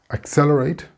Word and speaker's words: accelerate: Accelerate has four syllables, accelerate.